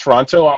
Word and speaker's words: Toronto: it wrong it's toronto it's toronto not the t is soft like the like jogging with the soft j um yeah i i'm